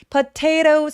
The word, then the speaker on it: potatoes: potatoes 할 때 요 T도 모음 사이에 굴러가죠. 근데 이 t는 왜 그 모음 사이에 있는데 왜 t 소리를 내느냐? 왜냐하면 강세가 들어가면 무조건 원래 소리를 내기 때문이에요. 그래서 potatoes, potatoes라고 굴려도 되고 potatoes라고 그냥 t 소리 내셔도 당연히 괜찮습니다. 또 다른 사람들은 뭘 가지고 왔어요?